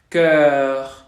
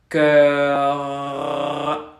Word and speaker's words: cœur: Estamos haciendo la boca en forma de O abierta, pero pronunciamos E. Para hacerlo, la lengua queda como en una cuenca. Exacto, es la de œil, sœur, cœur, cœur.